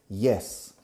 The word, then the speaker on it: yes: Yes. Pero fijaros en la pronunciación. Yes. No se dice yes. Yes. Yes. Entrando como si fuera una I latina. Como en la palabra hielo en castellano.